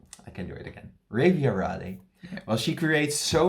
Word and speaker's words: Refiarade: after the beautiful pronunciation of the name. Refiarade. Oh, sure, right. I can do it again. Refiarade.